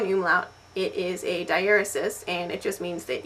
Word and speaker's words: diaeresis: And I have been mispronouncing this word for a long, long time. I have always thought it was pronounced diuresis.